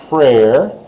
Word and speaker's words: frère: Mon frère. Frère, like Frère Jacques, if you remember that song, Frère Jacques.